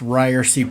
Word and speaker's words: Ryerse: This is the It's Pronounced Ryerse podcast.